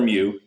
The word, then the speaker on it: mu: we'll use the symbol mu the Greek letter mu pronounced mu.